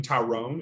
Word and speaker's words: Tyrone: It's spelled like the name Tyrone, and we're from Kentucky, so we call it Tyrone.